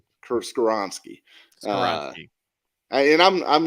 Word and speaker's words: Skoronski: I think if you want him, Paris Johnson, Broderick Jones, how do you pronounce his name? Peter Skoronski. Skoronski.